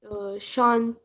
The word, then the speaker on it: chantent: chantons, vous chantez, ils chantent. il chante. Il The chante. first, second, and the last one chante. Chante, chante, chante, chanton, chantin, chante. Only nous et vous are pronounced at the end.